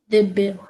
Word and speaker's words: Dibya: And because Dada is a Bengali, so instead of calling it Divya Chakshu, it is spelled as Divya. Divya Chakshu. Dibya. Divya Chakshu. Instead of V, they have written B.